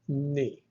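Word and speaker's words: νι: Then comes the letter ni. Ni looks like the English V, but it's pronounced like the N in the word noon.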